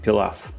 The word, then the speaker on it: pilaf: on where you live it's pronounced differently we pronounce it pilaf prepare the onions and the garlic by first